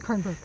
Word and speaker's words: Kernberg: Kernberg.